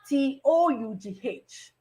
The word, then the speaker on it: tough: But in the word TOUGH, it is pronounced of, tough.